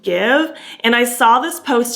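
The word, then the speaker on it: GXVE: you know uh yeah it's called give g x v e but it's pronounced give and i saw this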